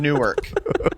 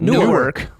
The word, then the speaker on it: Newark: and the Many Saints of Newark.